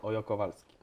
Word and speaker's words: Hoyo-Kowalski: samo jak jest Ola, czyli cześć, to nie to... mówi się Hola, tylko Ola. Okej, dobra, no to to już mamy, także wszyscy, którzy gdzieś tam będą wymawiać nazwisko, prosimy mówić Ojo Kowalski.